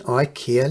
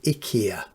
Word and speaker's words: IKEA: change the bulbing an IKEA lamp although I think they actually pronounce it Ika as you can see